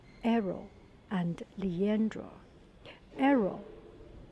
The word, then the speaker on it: Hero: story of this painting this painting is called arrow and Liandra arrow it's is written as a